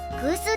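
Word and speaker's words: 古酒: 古酒はラベルに古酒と明記してあり、空数と読むのだ。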